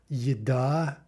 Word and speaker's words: еда: This starts with the "y" sound. So let's practice examples. Еще, еще, right? Note the "y" sound at the beginning. Еда, еда, yosh, there's a your, right, example, same idea.